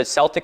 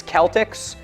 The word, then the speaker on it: Celtic: Celtic with a hard C or K is the standard.